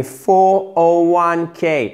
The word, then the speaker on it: 401k: Et 401k. Et ce n'est pas un 401k. Non, non. C'est 401k. OK? Chiffre par chiffre.